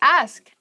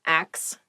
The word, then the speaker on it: ask: the next word is ask ask please pronounce this correctly it is not ax many native speakers make this pronunciation mistake and it really bothers me ask ask me about